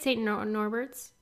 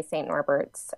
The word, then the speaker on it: St. Norbert: St. Norbert's? Is that right? St. Norbert, but actually locals say St. Norbert's.